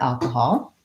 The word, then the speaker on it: alcohol: and in this word, it's the first syllable, al. So we have long, short, alcohol. So kahal are short. The vowel in the stressed syllable al is the vowel a, like in cat and black.